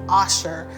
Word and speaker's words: Asher: So his name is spelled Asher, A-S-H-E-R, but I called him Asher because I wanted him to learn how to